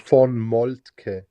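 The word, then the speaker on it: von Moltke: It's pronounced von Malt.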